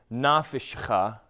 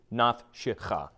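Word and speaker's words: נפשך: So this isn't nafishcha. It's not nafishcha. This is nafshecha. Okay? Naf, hard stop, shecha. Small pause, or half syllable.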